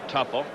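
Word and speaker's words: Teufel: second baseman Tim tff Tu Fel they pronounce it tougher he'll be playing until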